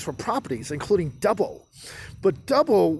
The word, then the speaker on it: Dubbo: But Dubbo was thought to be a mispronunciation of the local Wiradjuri word Thubbo. So people thought it was Thubbo, but he just called it Dubbo.